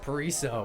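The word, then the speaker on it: Paraíso: to map number two how do you pronounce this map that's a really good question I did not see the name where is it pariso I thinko pariso pariso we just got official word thank you coach Conor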